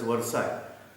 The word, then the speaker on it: Versailles: That there was Treaty of Versailles, spell out as Versailles but pronounced as Versailles.